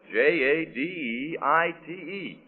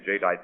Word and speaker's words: Jadeite: And that's spelled J A D E I T E.